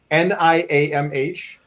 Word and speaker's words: Niamh: some of these names like n i a m h. Apparently that's the word that's the name Niamh.